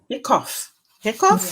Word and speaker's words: hiccough: So then others may stumble, but not you, on, is that hiccup, Carol? I think it's cough. Hiccough.